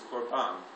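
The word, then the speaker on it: קרבן: sacrifice in Hebrew is Corban and a Corban sometimes pronounce corbon sounds like carbon sometimes it means to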